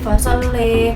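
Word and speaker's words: فَصَلَّىٰ: Selanjutnya pada ayat ke-15 terdapat satu perubahan pada akhir ayatnya yaitu imalah, sehingga cara bacanya menjadi wa dzakara asma rabbih fasalli.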